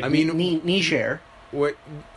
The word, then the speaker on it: Niger: Like, I mean, Niger. What? Oh, that's how you pronounce it? Yes, there's only one G. Ooh, and it's French.